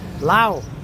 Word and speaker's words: Lao: And it seems that YouTubers love to call this country Lao. They don't call it Laos, they call it Lao.